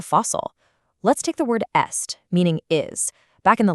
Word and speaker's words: est: The old letter stayed stuck in the spelling though, so today we only pronounce that ancient T as a liaison, like when we say "il est amoureux".